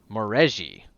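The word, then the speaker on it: Maurezhi: It is a Morahazi, I think. Yeah, something like that. And yeah, that let me see. Moreji. That's how you pronounce it.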